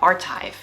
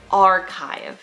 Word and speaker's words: archive: For this word, when most people mispronounce it, they say something like archive or archive, when the correct pronunciation is archive.